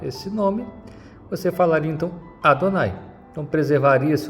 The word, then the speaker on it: Adonai: Isso aqui continua sendo impronunciável até os dias de hoje. Pronuncia-se Adonai.